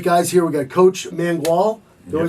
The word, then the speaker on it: Mangual: We got Coach Mangual.